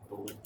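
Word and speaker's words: Bullitt: of the Beast of bullet Co I don't know if that's how it's pronounced is it bullet County yeah like b u l l i TT but yeah but County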